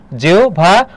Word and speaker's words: জিহ্বা: এরপর জিহ্বা, উচ্চারণের ক্ষেত্রে মনে রাখবে হয়ের স্থলে ও বা রস্যু হবে, আর বয়ের স্থলে কি হবে বলতো? ভ হবে। তাহলে এখানে দেখো কি হবে? জিহ্বা, ও বা রস্যু যে কোনো একটা।